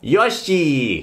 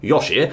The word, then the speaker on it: Yoshi: more you know Gusto you have to drag the E out why because we have the extended pronunciation Mark there pronunciation Mark once again so instead of being Yoshi we've got Yosi okay